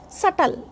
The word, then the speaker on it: subtle: In this particular word, b is silent. This should be pronounced subtle, not subtle.